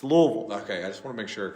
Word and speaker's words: Louisville: It's Louisville. Okay, I just want to make sure, because that's how I pronounce it.